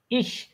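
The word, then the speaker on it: ich: এর মতন হবে বাট কিন্তু সম ইস ইস ইশ ইস উচ্চারণ সময় সঙ্গে বাতাসটা ছাড়েন তো একটু ইস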